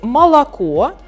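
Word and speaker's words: молоко: so in a word malachor we've got three or but they are pronounced differently like why so why so because the last syllable with the last o is stressed like malachor it's stressed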